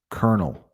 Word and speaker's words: colonel: And kernel, I mean, don't even look at that word if you want to pronounce it. Colonel.